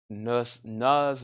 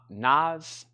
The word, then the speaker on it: Van Nuys: Nuz rhymes with guys. Not Nas.